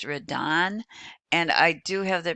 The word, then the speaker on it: Redon: His name is pronounced Redon, and I do have the pronunciation in there